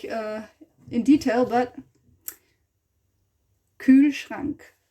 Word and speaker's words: Kühlschrank: We haven't pronounced it like in detail, but Kühlschrank. Kühlschrank. Schrank. It's also the R in the back somehow, you know.